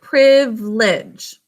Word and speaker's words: privilege: finally already on should you mark it we pronounce it privledge so the first syllable is basic code the